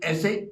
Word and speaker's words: ऐं: ओम ऐं वाण्यै स्वाहा, उच्चारण जैसे गंग बोलते हैं ऐसे ऐं होना चाहिए।